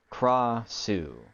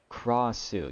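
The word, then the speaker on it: Krasue: it's pronounced Krossu. Okay, so I've been pronouncing it correctly? Krossu. You don't flick the R.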